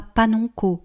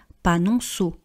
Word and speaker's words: panonceau: panonceau, panonceau, vous voyez qu'on ne dit pas panonko on dit panonceau, panonceau.